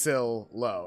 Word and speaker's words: Silo: Silo is short for silhouette. Yeah, Paladin got it right. It's pronounced Sil-Lo. Okay. Yeah, Curtis Silo.